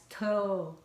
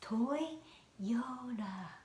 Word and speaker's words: Toyota: I learned that American people divide it as toy, yo, like O, but then kind of connected to this Y sound, Toyota.